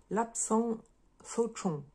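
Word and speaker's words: Lapsang souchong: le prononcer en chinois, ça se dirait lapsang sochong. Et en fait, les G à la fin, on les prononce pas.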